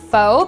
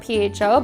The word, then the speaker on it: pho: Some people call it pho because it's spelled P-H-O, but my sources say that that's wrong. It's called pho.